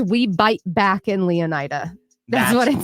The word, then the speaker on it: Leonida: you say the name leonida leonida which is like Florida right is a crotch